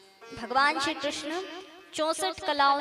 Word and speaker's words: कृष्ण: कृष्ण नहीं होता है, कृष्ण होता है।